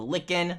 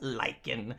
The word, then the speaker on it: lichen: to the lava and we got the lickin likin whatever you want to call it you guys are gonna roast me i already know you guys are gonna roast me stealth it's pronounced lichen i'm like whatever guys